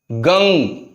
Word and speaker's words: गं: गंग। गा बोलते हैं, गंग। ओम गंग गणपते नमः। तो ये जो है गा शब्द का उच्चारण हमेशा मुंह खुला रख के होता है, गा।